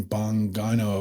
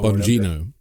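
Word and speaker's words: Bongino: But we just had reports, you know, on Friday that and I'm going to mispronounce his name, Dan Bango. Bangino.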